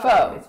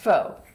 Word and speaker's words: Pho: It's Faux. pronounced Faux.